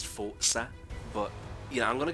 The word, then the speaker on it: Forza: you know I know the proper way to pronounce is Forza but yeah I'm going